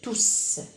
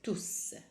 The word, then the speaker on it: tous: Comme vous voyez ici, j'ai prononcé à la fin une consonne, tous. Là, elle a la nature d'un pronom indéfini, car il remplace le nom mes amis. Mes amis est un nom masculin pluriel, donc tout va être écrite à la fin avec S et on prononce tous.